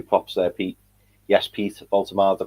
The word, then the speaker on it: Woltemade: Yes, Pete, Woltemade, the pronunciation back on point.